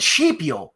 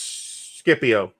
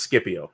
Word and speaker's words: Scipio: different rules of pronunciation the c is just always hard and classical it's always hard yeah so it's it's scipio it's also kaisar and